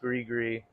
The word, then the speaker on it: Gris Gris: No, but the Grigree, so it is pronounced Grigree.